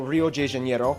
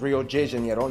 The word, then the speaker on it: Rio de Janeiro: from the old capital rio de janeiro that's right it's pronounced rio de janeiro not rio de janeiro get it right we're not in mexico this is portuguese not spanish this was oh i